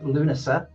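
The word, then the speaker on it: Lughnasa: 1930s Ireland dancing in Luna. You don't pronounce the G and the H folks if you want know that.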